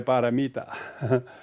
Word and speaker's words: Paramita: Some people call Polomito or something, but it's actually they're trying to say Paramita.